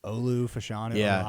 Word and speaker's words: Olu Fashanu: well again I'm not even go try to pronounce his name Shu fashanu I keep it's Olu fashanu fanu he's like the most athletic I think